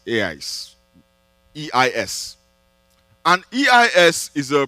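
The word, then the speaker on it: εἰς: When Jesus said, whoever believes in me, in the original text, the word he used is a Greek word that is pronounced eis, eis, E-I-S.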